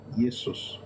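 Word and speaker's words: Iesus: Latin will be Yesus not Jesus will be yus. It will be spelled I E S U S.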